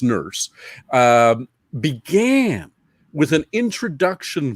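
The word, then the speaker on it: Nourse: how it was pronounced n-o-u-r-s-e but pronounced nurse um began with an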